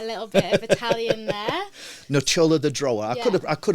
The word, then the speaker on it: Nocciola: Yeah, my business is Nocciola the Drawer. So you're learning a little bit of Italian there. Nocciola the Drawer.